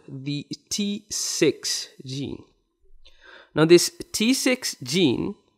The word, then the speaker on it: Tsix: This XIC, this XIC center, this also secretes another factor, which is called the T6 gene.